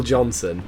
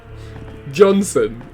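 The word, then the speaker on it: Jonson: wow that's really bad johnson john's oh it's john stun sorry i didn't realize that was um saying the primark's name wrong uh lionel johnston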